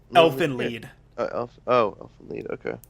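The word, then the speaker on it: Elfen Lied: it's uh I guess typed out as elf and lied l i e d but it's pronounced Elfin lead in the show huh I've never heard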